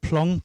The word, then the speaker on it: Plong: Although you spell it Plong, but they are pronounced Plo.